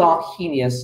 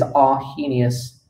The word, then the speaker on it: Arrhenius: of acid bases, there was a guy called Arrhenius, a very famous chemist. His name is Arrhenius. Now, Arrhenius, I've got to spell it with a double R.